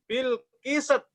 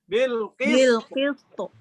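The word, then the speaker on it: بِالْقِسْطِ: Masalah yang terjadi, banyak orang bacanya gini, Bilqisat. Bilqisat ya. Ya, enggak begitu ya. Harusnya apa? Bilqis. Oh, nah. Coba, santri coba. Ya, sempurnakan sin, rokhawah dan hamzahnya.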